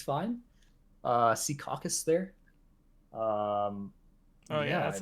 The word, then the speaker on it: Secaucus: I don't you know it's it's fine uh Secaucus there um oh yeah that's how you pronounce it um yeah yeah it's a fun